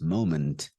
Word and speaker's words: moment: m m m M moment moment it is not Min or moment it's not exactly how we think of it it's slightly different moment